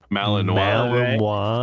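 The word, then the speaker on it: Malinois: Malino. That's how the French say it. Don't Yeah. Don't be gay as I'm American. It's a malanino.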